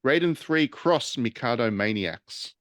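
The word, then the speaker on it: Raiden III x Mikado Maniax: Japanese naming convention it's the x is pronounced cross oh is it Raiden Three cross Mikado Maniacs that's because so Raiden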